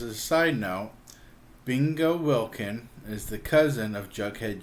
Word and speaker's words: Wilkin: The correct pronunciation of the name is Wilkin, but Samantha's father always says Wilkins with an S on the end.